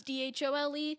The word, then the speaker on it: dhole: use the most so for now the common consensus is dhole but i would really like for that to be changed right on all right